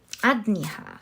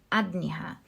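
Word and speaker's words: Ajna: throat sorry third eye chakra which is the adniha adniha sorry that's how it's pronounced correct correctly the adniha you have the four of cups and the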